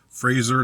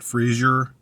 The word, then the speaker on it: Fraser: you say his name it's just Fraser not Frasier um I believe so